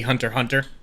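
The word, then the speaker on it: Hunter × Hunter: Whenever there's like an X on, like Hunter x Hunter is technically Hunter Hunter.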